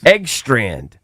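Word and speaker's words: Engstrand: Eggstrand.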